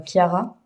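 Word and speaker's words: Chiara: Je pense que ça se dit Kiara vu que c'est vu que c'est de l'italien.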